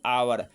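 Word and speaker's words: hour: पहला letter H है। लेकिन इसका उच्चारण ह के समान नहीं है। इसका उच्चारण आ के समान है।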